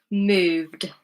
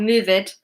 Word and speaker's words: moved: Moved, moved. It's duh, one syllable. Moved, not move-ed, moved.